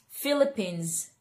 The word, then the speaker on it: Philippines: hindi daw siya letter S. Yung S na yon, yung sound niya hindi daw letter S. Yung letter S na yon nagiging letter Z, okay? So when we say this word, it's Philippines, Philippines, Philippines, Philippines, Philippines! Okay, so letter Z daw siya, hindi daw siya letter S.